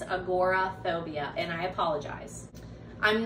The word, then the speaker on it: agoraphobia: aj finn i know i kept stumbling over agoraphobia i think i called it agrophobia so just making that correction it's agoraphobia and i apologize i'm